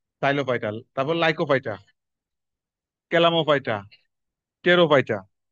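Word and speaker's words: Pterophyta: তারপর লাইকোফাইটা, ক্যালামোফাইটা, টেরোফাইটা, পি উচ্চারণ হয় না।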